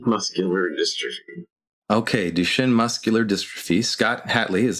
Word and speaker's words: Duchenne: Scott's a native and resident of Portland, Oregon, born with, and Scott, can you help me pronounce this correctly? Yeah, Duchenne Muscular Dystrophy. Okay, Duchenne Muscular Dystrophy.